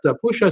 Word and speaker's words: Pusa: My friends over at Pusha Studios in Montreal. Pusha is spelled P-U-S-A, by the way. Pusha Studios, or Pusha Studios, they pronounce it.